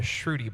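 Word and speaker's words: shruti: This is called a shrudy box. It's spelled s h r u- ti and it is an Indian meditation instrument.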